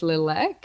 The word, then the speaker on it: Littlek: has thought that it's lilac yeah I care how people pronounce it I like when people call it Lilac because then I know they're acknowledging it as one word and not two words because it's not two